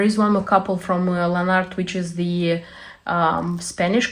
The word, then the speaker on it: Lanarte: wanted to show you this is lanart they say that this is the right way to pronounce it um I don't have